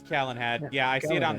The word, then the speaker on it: Calenhad: whatever happened at Lake Galahad Tower? Is it Lake Galahad or Calenhad? I thought it was Calenhad. Galahad, however it's pronounced. All right. Yeah, I'll go. it is Calenhad.